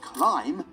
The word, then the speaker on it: climb: clamber and the word climb from it the word clamber has kept the bee in the spelling and the pronunciation but the word climb has only kept it in the spelling climb on every mountain